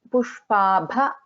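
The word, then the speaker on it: पुष्पाभा: Then Pushpabha, bha is a Mahaprana.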